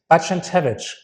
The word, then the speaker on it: Barczentewicz: Yes, I'm sitting here with Kamil Barczentewicz, correct? Great, correct. Thank you so much. Barczentewicz, I yes.